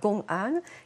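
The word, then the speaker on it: gong'an: à nous citer alors Kanan c'est la prononciation japonaise du terme chinois gongan qui signifie cas public c'est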